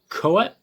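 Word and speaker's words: Koepp: et cetera it's written and directed by david cowet who that's how you pronounce his name and it's based on the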